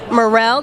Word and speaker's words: Murrell: And I'm actually here with the hostess of the night, Anne-Marie Murrell.